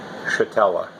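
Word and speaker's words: Szetela: If you pronounce it in Polish, S-Z-E-T-E-L-A, S-Z in Polish has the SH sound. So phonetically, my name would be pronounced Shetella.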